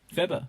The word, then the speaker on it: Phoebe: Phoebe. That's how it's actually pronounced. Oh, Phoebe. oh, really? It's Greek.